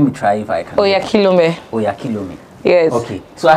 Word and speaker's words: Oyakhilome: You're going to pronounce my surname and I'm going to pronounce yours. My surname is Oyakhilome. Okay. Oh yeah. Oyakhilome.